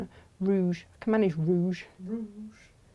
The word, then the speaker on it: rouge: I can manage rouge. Rouge. Like that word. It's a good word. Yeah. You're supposed to roll the R though, aren't you? Go on. Oh, rouge.